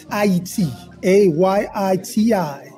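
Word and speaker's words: Ayiti: a Yi TI this is the correct way to say Haiti well we're getting education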